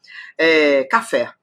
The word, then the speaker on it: café: um exemplo bem fácil café café duas sílabas café café Qual é a forte claro que é o fé então é uma oxítona última sílaba tônica então